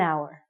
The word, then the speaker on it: hour: sounds like a vowel because the H is silent we have to say an hour okay you got it you're with me an hour so and we used